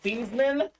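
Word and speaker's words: Theismann: Football Hall of Famer his name was actually pronounced Joe thievesman but at Notre Dame that said change your name to Theisman so we can campaign new Theisman for the Heisman didn't quite win the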